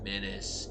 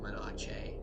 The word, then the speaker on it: Menace: From legal disclaimer, it's pronounced Menace, yes, but this fucker at my LGS calls it, well, my not quite local game store calls it Menache as a joke, and I don't know,